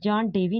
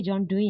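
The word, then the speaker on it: John Dewey: pronounce एशन की थी यह जॉन डेवी नहीं है यह जॉन डई है कि नजर में मशती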